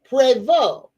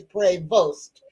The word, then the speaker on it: Prevost: So for for everybody now he's American so it's not pronounced prevo uh like the French so it is prevost so because he's American